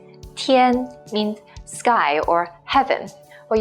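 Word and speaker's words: 天: first one with nothing go being beyond is pronounced as tien tien means sky or heaven well you can think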